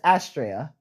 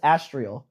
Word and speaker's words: Astria: say her name is Astria almost astrial dang they all have